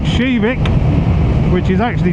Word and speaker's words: Kivik: to a town called shivik which is actually spelled k i VI i k but it's pronounced in Swedish shivik and um there is